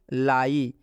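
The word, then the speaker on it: lie: एक और एग्जाम्पल देख लीजिए, लाई। लाई में भी आई के बाद से ई आया हुआ है, इसलिए इस आई का उच्चारण हम लोग आई से करेंगे।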